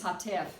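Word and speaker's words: חטף: Yeah, Segol Hatuf, or does Hatuf Yeah, come first? Yeah. Hatef, Yeah, Hatef, I'm Hatef. sorry, it's Hatef.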